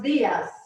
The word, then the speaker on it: días: Buenos días. Buenos días. Careful with those D's. You want to put your tongue up in the roof of your mouth, behind your front teeth.